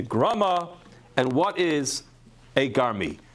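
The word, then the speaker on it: גרמי: A garmi, which is typically how it's pronounced, although the Lavush and others actually explain it should be pronounced differently, which is grame, but maybe we'll explain that later. But garmi, as is typically pronounced, is when the Gemara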